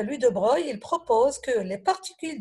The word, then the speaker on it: de Broglie: goûté à l'or lui de breuil bon ça s'écrit lui de broglie ans que je vais à briller par ldb mais on le lit lui de breuil alors lui de bras